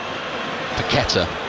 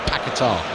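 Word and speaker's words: Paquetá: Actually, Paketa. I was just checking on his pronunciation before the game. I was so used to saying Pakatar.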